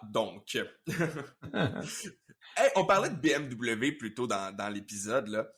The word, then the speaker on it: BMW: Donc, vu que c'est de l'allemand, il faudrait pas le prononcer BMW, parce que c'est pas du français, il faudrait le prononcer BMW. Uh-huh. C'est comme ça que la compagnie veut qu'on le prononce à l'allemande.